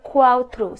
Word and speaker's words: cuatro: And number four is cuatro. C-U-A-T-R-O.